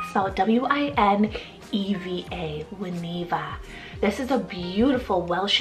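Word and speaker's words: Wineva: longer form of Winnie what about the name juaniva so w-i-n-e-v-a when Eva this is a beautiful Welsh and Hebrew mixed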